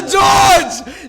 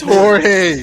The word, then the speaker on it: Jorge: That's a George. That's George. That's Jorge. That is Jorge. That's George with a J.